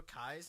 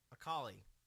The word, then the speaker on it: Akali: There's actually 2 Akais in this game. Is that Akai? Akali. Same thing. I just mispronounce it.